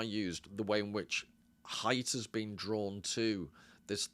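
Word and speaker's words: Haidt: height he mentions and it is height by the way I think I've read on his website somewhere it's to pronounced height.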